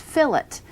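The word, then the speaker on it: fillet: fil L ET and it should be pronounced fill it if you're speaking about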